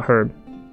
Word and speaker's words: herb: a flower or a herb a herb and Herb I think the H is silent okay so they can